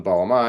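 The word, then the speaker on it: bağlama: It's B A G L A M A and it's got the sort of silent Turkish G in there.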